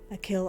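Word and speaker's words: Achill: the five counties in the province of konache pronunciation I'll kill oh whoops a kill Island fitting especially because I believe we're about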